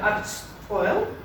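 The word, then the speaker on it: àrd-sgoil: И сочетание «рд», «рт» в обоих случаях дает звук «ршт». Например, в слове «актшпойл», «спойль» — это высшая школа, или «кяршт» — правильно.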